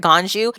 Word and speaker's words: Ganju: well Gan wait did I say it right ganju he is the reason we're able to keep